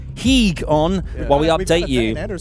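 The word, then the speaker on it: hygge: So sit back and get your higgy, I've got my script here, H-Y-G-G-E, how would you pronounce it? Heeg on while we update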